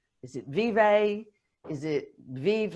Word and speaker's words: Vive: Well, I pronounce it Vive because I've got a bit of an affinity towards Italy, and in Italian, it's a conjugation of the verb vivere.